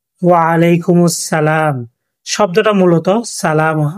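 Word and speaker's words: وعليكم السلام: আপনারা আমার সাথে বলেন, ওয়ালাইকুমুস সালাম। ওয়ালাইকুমুস সালাম শব্দটা মূলত সালাম। আমরা যখন এখানে থামবো তখন উচ্চারিত হবে সালাম।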